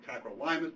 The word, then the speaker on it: tacrolimus: of calcineurin inhibitors called tacrolimus or tacrolimus depending on how you pronounce it ta t ro li